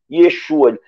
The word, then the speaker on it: Yeshua: filhos de ceva eram judeus e pronunciavam o nome de Jesus da forma correta Yeshua Lost expulsamos em nome